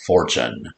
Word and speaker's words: fortune: i mentioned everyone is this rare single letter ch spelled with a t followed by a u as in virtue and and then a